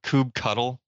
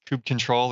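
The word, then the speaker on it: kubectl: we go xar I I love hearing people's pronunciations of stuff so Peter like you use kubernetes do you call it Cube cuddle Cube cuddle yeah sure see yeah I don't do that it's it's Cube control or cube CTS I've never called it CP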